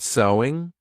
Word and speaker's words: sewing: So sewing is the activity, but the pronunciation is the same as the word.